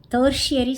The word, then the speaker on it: tertiary: ப்ரைமரி sector, secondary sector, டெர்ஷியரி sector, TERTIARY. அது நான் கரெக்டாக ப்ரொனவுன்ஸ் பண்ணலைங்க லாஸ்ட் வீடியோவில்.